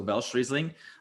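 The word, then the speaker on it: Welschriesling: um so it's w-e-l-s-c-h i believe that's how it's spelled um then riesling so velcrizzling um it is um a difference uh cross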